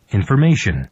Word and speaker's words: information: information, 보세요. information이 아니라 발음이 information, information. 그러니까 이거 보여드리면 이런 거죠. TION으로 끝났죠. 그러니까 앞에 오는 거 바로 앞에 이게 모음이잖아요. 그러니까 information, information. 이렇게 이런 거 규칙이 있어요.